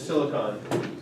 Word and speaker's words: silicon: Is it pronounced silicon or This one is silicon. So silicone actually has an E at the end, and that's the stuff that you get in a tube. So yeah, this is silicon.